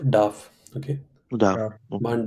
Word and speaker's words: darf: Which one is gets Dürfen. conjugated? Dürfen. Modal verb. So let's conjugate dürfen for one. So how do you say one is not allowed to smoke? Man darf nicht rauchen. Not dürf, darf.